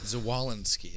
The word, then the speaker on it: Zwolinski: Zwolinski.